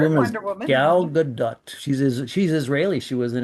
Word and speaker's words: Gadot: And by the way, her name is pronounced Gadot, not Godot, like some people like to say.